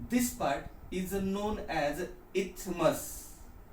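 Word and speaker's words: isthmus: And this part is known as इथमस. ये S silent है, नहीं तो इस्थमुस बोलते जाएंगे आप लोग, ऐसा मत करो.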